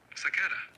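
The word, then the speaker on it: سكارى: Phonetically, the word sakara would be spelled as sakara, with the emphasis on the second syllable, making it sound like sakara.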